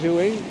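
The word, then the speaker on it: Éowyn: Stormeowyn, we think it's pronounced Ewing, is arriving on the shores of Ireland at 2 AM this morning.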